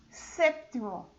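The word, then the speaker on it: séptimo: Quinto, sexto, sexto, sétimo, esse P é mudo, mas ele tem que soar bem suave.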